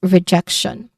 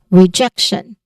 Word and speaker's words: rejection: That is rejection.